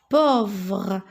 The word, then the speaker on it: pauvre: Regardez, A-U. A-U, je le prononce O. Le petit poussé est pauvre.